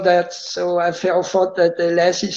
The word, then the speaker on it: Lasse: My wife, she spells, she says my name Lasse when she talks to me. But it's a Swedish name, and the name is Lasse. But I didn't want that, so I thought that Lasse sounds a little more cool.